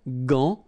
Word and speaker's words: gant: But in that case, you've got this A-N, so it's nasal, gant, and then final T is not pronounced here. Un gant, gant, de toilette.